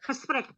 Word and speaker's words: gesprek: Oke, gesprek. Coba yang lain ditutup semua itunya, mic-nya. Kita coba dengarkan dan coba dibunyikan di dalam ruang masing-masingnya. Tipnya ada G, dibacanya seperti ada dahak di sini. Gesprek.